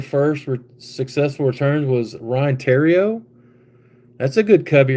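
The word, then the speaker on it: Theriot: One of your first successful returns was Ryan Tero. That's a good cubby right there. Funny thing about Ryan is his name is pronounced Tero, but it looks like the Riot.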